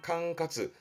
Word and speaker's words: 管轄: 발음은 캉카즈.